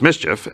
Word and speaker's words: MSCHF: six six thousand sixty-six cents the collective mischief pronounced mischief mschf was helped who helped little nos x